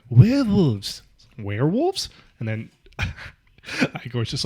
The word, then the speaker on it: Igor: He is named Igor. No, it's pronounced Igor.